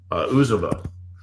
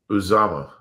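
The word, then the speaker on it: Uzomah: CJ, your guy, CJ Uzama. Uzama. My bad. Uzama. His stock is so far down, I didn't even say his name right.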